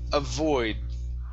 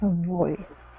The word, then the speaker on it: avoid: Give me a good V here. Avoid. Avoid. Okay, now pronounce that D instead of avoid. Okay, your tongue needs to come up to the top of your mouth so you can pronounce the sound.